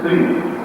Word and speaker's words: श्रीं: श्रीम को अगर अनाउंस करें SHREEM श्रीम, और फिर दोनों बार वापस क्रीम बोलना है।